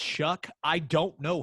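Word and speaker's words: Shough: look at oregon and although the kid's name is spelled s-h-o-u-g-h somehow it's pronounced shuck i don't know how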